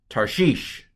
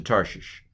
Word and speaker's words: Tarshish: tov it's a patak what's under the rash it's a shiva and i'm going to tell you it's a silent schwa this syllable is closed tar again tar heel tar okay what's what's under